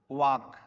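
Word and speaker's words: walk: ठीक है, तो यहाँ पे क्या होगा, यू ना, you should, you should वॉक, इसको वॉक बोलेंगे, वाल्क मत बोलिएगा, प्रोनाउंसिएशन रॉन्ग हो जाएगा।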